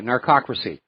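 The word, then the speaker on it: narcocracy: It's narco n a r cosy c r a c y narcracy.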